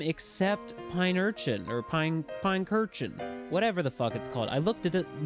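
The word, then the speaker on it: Pincurchin: here and I realized I always thought it was called Pine Urchin, but it's Pine Kurchin, I think. like pine cushion but urchin.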